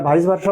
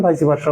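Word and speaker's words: vice versa: meaning of the word ভাইসি ভাষা এটা ভাইস ভারসা বলতে পারেন ভাই ভারসা বলতে পারেন যেহেতু ল্যাটিন এগুলো এর প্রনান্সিয়েশনে এইযে শেষের ইটা উচ্চারিত হয় আবার ইংলিশ অনুসারে আপনি উচ্চারণ নাও করতে পারেন এইযে দেখেন এর ব্যবহারটাভারস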